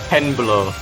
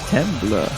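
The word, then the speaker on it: Temblor: So how was the way you pronounced this, you said? Penblur. Penblur. Yeah, T-E-M-B-L-O-R.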